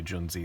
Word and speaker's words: Junzi: best tech Gen Z I think it might be pronounced young Z I don't know Ju and Zi I don't know what it is probably it's pronounced young Z but people are gonna say John Z so that's what we're